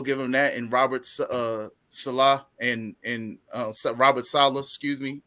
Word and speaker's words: Saleh: I know I keep can't getting pronounce his last Salah. It's Salah, Robert Salah.